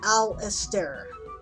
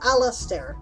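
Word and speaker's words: Alasdair: turn to hear assert how would you pronounce pronounce well it's a LS D AI r JM Baldwin says Alistair I'll stare right bobak has said the same thing trended hero says Emperor Elster v or Alastair which is Gaelic for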